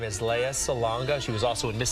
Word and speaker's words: Lea Salonga: get stuck in right now her name is Leia Salonga she was also in Miss Saigon she's been in a lot of things Leia salanga welcome to good day thank you for pronouncing my name correctly by the way I